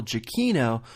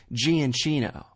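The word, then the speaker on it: Giacchino: keep in mind I correctly touted Michael jakino or as Ken would say Gan Chino I think Ken has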